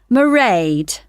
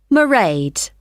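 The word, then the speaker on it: Mairead: do you spell that it's m a i r e a d marade okay got that it's not a name i'm familiar with oh it's an irish name she comes from dublin right and the road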